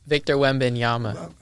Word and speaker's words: Victor Wembanyama: Oh, Victor Wembanyama.